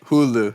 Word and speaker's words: Hulu: yeah let him know yeah Hulu is it pronounced that way Hulu yeah yeah what were you saying um all